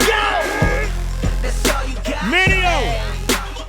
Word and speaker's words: Mineo: Say it with me, Mineo.